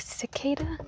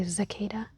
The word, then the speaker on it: cicada: I think some people might pronounce it more like cicada, but I always say zicada. I don't know which is the more southern way.